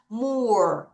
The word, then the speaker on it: more: more 다시 more 다시 more 한 번 더 more 이렇게 됩니다.